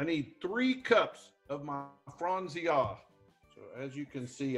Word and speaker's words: Franzia: good value in this box and that's my frenzy a box of red dry red wine dad i don't want to be that bartender but i believe it's pronounced franzia franzia i'm just trying to help you win